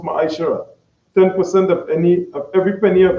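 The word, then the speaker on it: ma'aser: Means tenth in Hebrew and it's pronounced ma'ashara.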